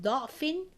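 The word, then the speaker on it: ضعف: So we have خَلَقَكُم مِّن ضَعْفٍ مِّن بَعْدِ ضَعْفٍ and ضَعْفًا.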